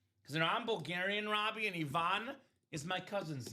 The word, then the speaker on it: Ivan: Because I'm Bulgarian, Robbie, and Ivan is my cousin's name. Oh, okay. Pronounced Ivan, not Ivan. So Bulgarians would call it Ivan.